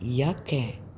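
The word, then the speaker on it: Jacke: اليوت اليوت اللي هو الجي نطق يوت يعني يه، زي ياكي ياكي ياكي.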